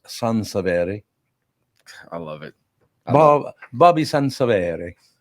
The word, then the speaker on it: Sansevere: You know his name is actually pronounced Sansevere.